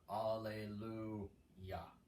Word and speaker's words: Alleluia: So, in Alleluia, do kind of what we did with Eius. Basically, just disregard the I where it is and put basically Y-A on the last note. Alleluia.